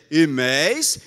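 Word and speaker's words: ἡμεῖς: Em português é difícil fazer a confusão entre nós e vós, mas em grego, nós é imeis e vós é imeis. Você percebeu alguma diferença? Pois é. A pronúncia é quase idêntica.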